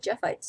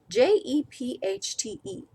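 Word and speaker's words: Jephte: I always pronounced it Jeffite's daughter, but Jepchte.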